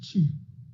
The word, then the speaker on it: qi: it is spelled q i but it is pronounced g and the practice to develop this g is